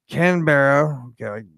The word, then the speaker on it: Canberra: email invite the United Stated States Embassy in Canberra yes I'm saying it right issued an apology